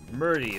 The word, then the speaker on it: M22RDY: Is there a way I should pronounce that? Like Murdy. I'm not really sure how Twitch handles work. Is that a dropping in thing? No. Science lab. Murdy. Murdy, that's good.